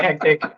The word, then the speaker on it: Hecktic: have another theory too hectic only has two syllables makes it a lot easier for her to pronounce as well oh now he's just like the counter that's exactly why we call it hectic I love that I